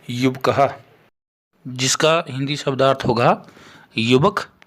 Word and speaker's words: युवकः: दूसरा है हमारे पास, ये भी पुल्लिंग शब्द ही है, युवकः, जिसका हिंदी शब्दार्थ होगा युवक या युवा पुरुष और संस्कृत में उच्चारण होगा युवकः।